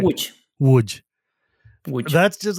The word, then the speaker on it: Łódź: So the city of Lodz is not pronounced that way. It's pronounced like Yeah, it's Łódź or something, right? Which, Łódź.